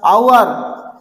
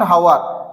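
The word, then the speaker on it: hour: आवर एच कौन अच्छी उच्चारण कौन अच्छी ना आ आवर नॉट हावर आवर उच्चारण आ अच्छी यस सर.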